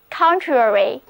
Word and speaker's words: contrary: 首先看这个单词 contrary,C-O-N-T-R-A-R-Y, contrary, 重音放在第一个音节上，都跟我练习一遍吧。 contrary, 它含有表